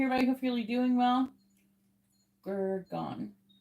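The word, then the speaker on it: Gurgaon: The internet is saying it's like it rhymes with cow. So it's supposed to be like an owl at the end. Where the N at the end is very soft or nasal.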